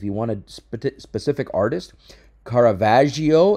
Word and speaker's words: Caravaggio: want to specific artist Caravaggio it's a soft G for example okay good